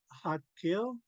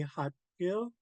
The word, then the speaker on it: Xaad Kil: hard D, and it's pronounced between a D and a T.